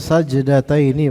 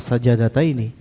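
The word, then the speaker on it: سجدتين: Dari tadi bacanya sajdataini bukan sajadataini. Sajdataini jimnya mati. Yang sahih jin mati.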